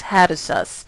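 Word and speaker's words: Hattusa: their empire um was a city known as hatus and I'm what I'm saying is spelled h a t t s a s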